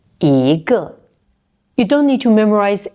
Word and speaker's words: 一个: Another example, 一 is not always pronounced 一. For example, 因一个 it's changed to a second tone, so we pronounced it 一个.